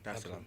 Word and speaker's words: Dar es Salaam: Did I pronounce that right? Yeah, Dar es Salaam.